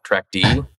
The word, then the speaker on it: trackd: And people ask all the time, how's it pronounced? It depends on if you're a Unix nerd or not. TrackD is what a lot of the Unix nerds call it. Tracked is non-Unix nerds.